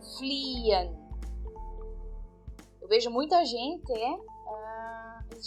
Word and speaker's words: fliehen: Então a gente não pronuncia o H no meio das palavras.